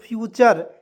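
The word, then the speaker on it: future: टी यू आर ई तो इसे पढ़ेंगे दोस्तों फ्यूचर फ्यूचर मींस होता है भविष्य हम लोग बचपन में क्या पढ़ते थे एफ यू एन ए टी यू आर ई नट रे एफ यू टी यू आर E foot रे सही बात है कि नहीं बिल्कुल हम लोग पढ़ते थे दोस्तों ठीक है लेकिन आपको पता चल गया कि आज के आज के इस वीडियो के बाद आपको नट पटरे नहीं पढ़ना है क्या पढ़ना है नेचर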